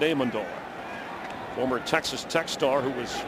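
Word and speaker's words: Amendola: as Danny amandola and that's how he likes it pronounced by the way amandola he said people call me amandola I don't mind but in our family we like it amandola former Texas techar who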